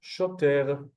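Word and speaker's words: שוטר: Followed by the vav with the cholam on the top, making it a sho. A sho. We have the tet with the three dots, becomes a te, shote. And we have the resh at the end with no vowel, so it becomes shoter, shoter.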